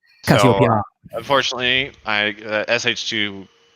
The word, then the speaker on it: Cassiopeia: Which is the wrong pronunciation, so I don't want to ever hear any of y'all out there pronouncing it. Cassiopeia.